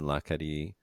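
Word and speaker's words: L'Acadie: That one that you mentioned, Lacadi, is that how you pronounce it? Yeah, Lacady Blanc, Lacadi Sauvignon Blanc Blanc, sounds fun.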